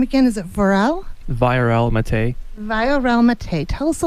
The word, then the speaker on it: Viorel Matei: Viorel Matei.